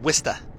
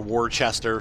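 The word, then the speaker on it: Worcester: like it's like really it looks like Worster Shire like that's how you would say it like worst Shire or Worchester something like that but it's pronounced wsta ah you guys are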